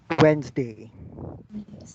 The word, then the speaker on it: Wednesday: Wednesday. What about this? Wednesday. Come on. Uni. How do you pronounce this word? Uni? Wednesday. Yes, many people will say Wednesday. No, it's not Wednesday. It's Wednesday.